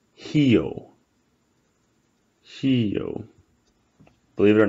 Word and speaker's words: Rio: If a word starts with an R, it's pronounced like an H, right? So in Brazil, no one says Rio. It's Rio.